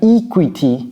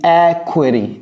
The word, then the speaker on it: equity: Et vous voyez comment je prononce ça? J'ai pas dit equity, j'ai dit equity. Equity.